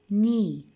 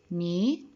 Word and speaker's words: knee: Always if the words start with K followed with N, that means the K is silent. دايما ال K بتكون هي silent. Notice the pronunciations of the word. Knee, new, knife, night, not, no.